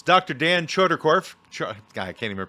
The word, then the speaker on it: Chodorkoff: author in quite a while it's dr dan choderkorf guy i can't even pronounce things choderkoff is that correct okay dr dan choderkoff is